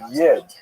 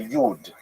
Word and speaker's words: Yid: So that's a Lithuanian pronunciation, Yi D. Yid, if you uh live in Western Germany, you would say Yud, right, from Yuda, which like the German word for Jew.